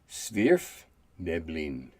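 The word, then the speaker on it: svirfneblin: wiki and it explained to me that i pronounce it sverf neblin you two could have just saying deep gnomes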